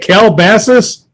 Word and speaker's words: Calabasas: training in calabasas said how you say it calabasas so it's like caliber so basically you're a